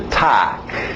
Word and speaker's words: talk: Continuando, mais um verbo que tem o L, mas o L é mudo. Okay? Então, escrita aí, vai nessa escrita. To talk.